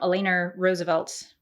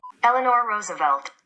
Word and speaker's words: Eleanor Roosevelt: there's a quote from elena roosevelt roosevelt how do you say her name a few moments later eleanor roosevelt eleanor roosevelt i give myself a d plus